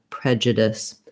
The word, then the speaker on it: prejudice: Then lastly, the ICE doesn't sound like ice in this word or dice. It sounds like dis. So the CE letters say the S sound, and we have that lax I vowel here, prejudice.